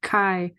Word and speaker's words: Chi: Chi or something but it's actually like Chi so it almost looks more like all right sounds more like k-i-e-kai you know um it runs right like it said it rhymes with sky this test examines the